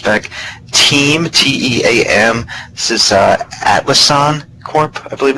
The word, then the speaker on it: Atlassian: This is Atlassian Corp, I believe it's pronounced.